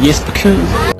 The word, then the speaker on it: Jesper Kyd: Now to me, that looks like Jesper Kyd. But that's not how you say it at all, apparently. This is him saying his name. Jesper Kyd.